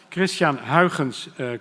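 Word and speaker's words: Christiaan Huygens: Christians to name it only a Dutch Can pronounce correctly Christian Hawkins colleague contemporary of Descartes of Newton multi-gifted person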